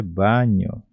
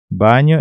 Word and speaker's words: baño: Banheiro nós chamamos de baño. Baño, então é banheiro. Baño, baño. A pronúncia seria mais ou menos assim, banho.